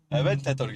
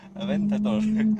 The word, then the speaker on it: Aventador: Авентадор гэж өчтөр яг яаж хэлтгийг гуглдлаа шүү дээ. Autopronounce AVNT Aventador.